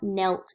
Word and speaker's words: knelt: word that word is Tom knelt down we wouldn't say connect or Tom's wrist we